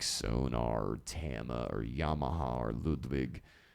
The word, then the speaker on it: Ludwig: Tama or Yamaha or Ludwig Ludwig it's not like van Beethoven I mean you can say it like that but they're just